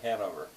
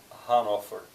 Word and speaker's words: Hannover: This is not too far from what we English Americans say Hanover. Hannover, in Germany.